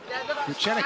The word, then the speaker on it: Vucenic: Vucenic is sparking in his debut.